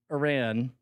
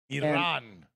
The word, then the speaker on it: Iran: it but uh uh anyway uh USA beat Iran Iran Iran yeah no there was a journalist who